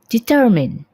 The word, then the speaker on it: determine: Pengucapannya adalah determine. Determine. Untuk British biasanya R-nya itu sangat tidak terdengar, sedangkan untuk American English kadang R-nya terdengar sedikit.